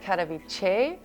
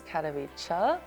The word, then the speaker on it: Katowice: because when I was in Poland, I said Katowice, and the Polish person said it's Katowice. It took me 3 years to pronounce the name of the city right, but I think now it's all right. Katowice or something like that.